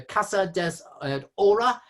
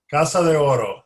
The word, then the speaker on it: Casa de Oro: That particular piece there is called the, excuse my pronunciation, the Casa des Ora, which apparently means House of God, of Gold, sorry. Right. Casa de Oro.